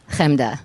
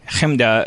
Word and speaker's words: Chemda: Chemda. You go for it, but if I do that, I feel it's say it. Say my name. Chemda.